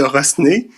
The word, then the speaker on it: Rosnay: Demain, vous allez pouvoir voir Guy, Guy de Rosnay, Guy Fromet de Rosnay. Bon, ça s'écrit Rosnay, mais on ne prononce pas le S habituellement, mais lui, ça lui dérange pas.